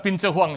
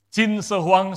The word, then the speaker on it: 秦始皇: Terus kalian ada seorang kaisar di China, 在中国有一个皇帝， namanya Qin Shi Huang. Betul ya bacanya Ya. begitu Pak ya? 名字叫秦始皇， Bukan Pin Shi Huang, saudara. 不是骗子 Itu 皇。 obatnya. Qin Shi Huang, saudara sekalian, adalah kaisar pertama dinasti Qin.